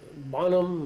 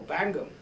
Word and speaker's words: Bangham: Yeah, very well equipped, I would say, How did you come to read these papers by, and I can't pronounce his name right, Bonham or? Oh, Bangham.